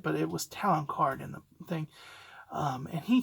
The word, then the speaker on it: Talon Karrde: I think it's Talon Card. That's how, I think how they pronounce it in the thing.